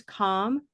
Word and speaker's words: calm: No, it's a dark L. The dark L. Okay, that's a really nice observation. We could put this here to recognize. In fact, we've already done it up here, right? Half and half. We can recognize two things, that there's a vowel option here. So here's calm, which is olive sock again.